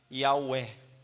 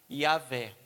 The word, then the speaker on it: Yahweh: Tem gente até que pronuncia esse W como Ur, né? Yahweh, ou Yahvé.